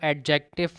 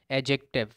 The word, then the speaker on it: adjective: आ रहा है है जिसे अक्सर लोग जो है वह एडजेक्टिव प्रोनाउंस करते हैं जब के डे यहां पर साइलेंट होता है और इसकी जो करेक्ट प्रनंसीएशन है वह एडजेक्टिव एंडी की आवाज नहीं